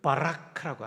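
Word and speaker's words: בָּרַךְ: 히브리어로는 바라크라고 합니다. 한번 따라해 볼까요? 바라크. 바라크.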